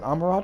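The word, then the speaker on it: Amaurot: Here do we employ the latest spellcraft from Amarot to... Do you pronounce the T? Is it Amarot or Amaro?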